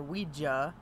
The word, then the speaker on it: Ouija: Julie Brandon brings a Ouija board or we gia as he keeps stressing that's how it's pronounced but I never pronounced it like that so it just feels